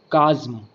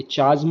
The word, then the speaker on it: chasm: यहाँ एक नया वर्ड हमें देखने को मिलता है, काज्म। स्पेलिंग है CHASM। ये चाज्म नहीं है, ध्यान दीजिएगा, ये कैज्म है।